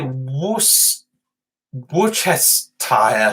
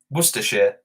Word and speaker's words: Worcestershire: know why i'm sorry can you say wuss buchus tire sauce you mean worcester worcestershire worcestershire sauce worcestershire sauce it says it's worcestershire worcestershire sauce you had to make me think that yes worcestershire sauce because i can't for the life of me i say it like warshi so you're like donkey